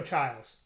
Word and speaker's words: Chiles: So we're gonna go Childs.